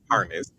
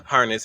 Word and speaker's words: Parnes: air, uh, Aaron Parnes, I've been saying his name wrong. previous video I said harnesses Aaron Parnes had put out a